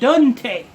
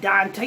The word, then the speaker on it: Daunte: Daunte. It's not Dante, it's Daunte.